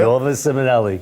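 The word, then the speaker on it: Nuova Simonelli: here from NOA simonelli right that's a proper way to say NOA simonelli and what did you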